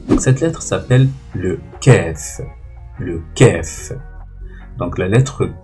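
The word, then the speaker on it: ك: Le kef, il se prononce comme un K.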